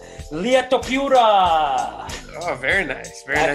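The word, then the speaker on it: Ilia Topuria: Llia Topuria.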